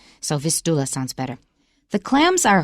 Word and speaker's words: Vistula: Okay, I think your pronunciation is better, Vistula, because I think in Polish it's 倒数第二个音节有重音 , so Vistula sounds better.